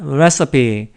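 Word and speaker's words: recipe: 다음 이라던데 찾아보면 나오는데 발음을 어 왜 cp 가 아니라 레서피 올라서 p 이렇게 얘기합니다 라스피 저에게 이제 유리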